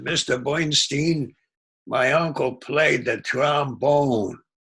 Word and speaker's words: Bernstein: So this one person walked in and he said, Mr. Bernstein, he always pronounced it Stein. He said, Mr. Bernstein, my uncle played the trombone.